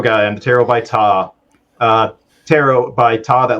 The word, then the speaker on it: Ptah: I'm the tarot guy I'm the tarot by tah uh tarot by Todd that last part is spelled p-t-a-h I'm on Facebook I do way